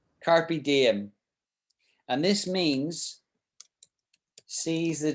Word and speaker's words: carpe diem: like this carpe diem so it's latin but it's used in english a lot and we just say it like a latin word carpe diem and this means seize